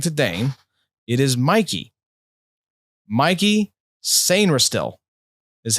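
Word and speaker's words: Mike Sainristil: because it is not Mike, according to Dane. It is Mikey. Mikey Sainristil is how you pronounce this, apparently, which I did not realize. I did not know Mike could be pronounced Mikey, but here we are.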